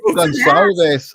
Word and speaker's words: Gonçalves: Gonçalves. Oh, I meant to ask. I usually ask, am I pronouncing it right?